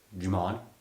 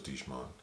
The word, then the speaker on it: Djimon: Djimon? Is that how you say it? I thought it was Djimon.